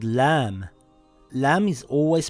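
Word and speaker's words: لام: Lam makes a similar sound in English to the letter L in the word lion or the word lamp.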